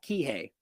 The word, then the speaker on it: Kihei: I'm much Kihei someone's saying in the chat Kihei for for the location I'm sorry I mispronounced it that that ultimately that we should